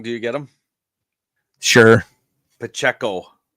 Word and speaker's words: Pacheco: I'm gonna take Pachero for my second running back. Now, if you say their name wrong, do you get them? Sure. Pacheco. Bernie Pacheco. It's not Ranchero.